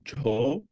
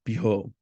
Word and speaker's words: Bho: In Tibetan, the seed syllable is sometimes pronounced jo. In Sanskrit, I'll recite it as Bho.